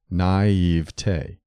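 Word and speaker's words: naiveté: also frequently heard naiva these four syllable variants are illogical and erroneous naive T combines naive and T and standard word division calls for three syllables naive T don't add a spurious fourth syllable it is acceptable to stress the middle syllable naive T but the weight of authority favors the primary accent of the final syllable naive T which should rhyme with day never with T so according to this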